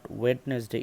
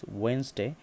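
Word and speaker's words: Wednesday: হলো sugar it's sugar not ওয়েডনেসডে ইটস ওয়েনসডে not August it's August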